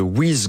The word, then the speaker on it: WYZ: Vous êtes le cofondateur et président de Wiz Group. Ça s'écrit WYZ.